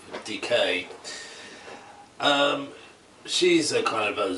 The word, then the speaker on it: DK: As in the pronunciation of decay.